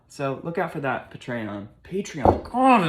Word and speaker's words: Patreon: Patreon. But it's not. I'm making a Patreon. There it is. Patreon.